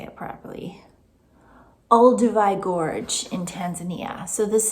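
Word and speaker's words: Olduvai: Ulivi Gorge in Tanzania.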